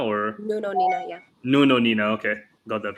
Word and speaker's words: Nuno Nina: How do you pronounce his name? Is that right? Dr. Nuno Nina or No, no, Nina, yeah. Nuno Nina?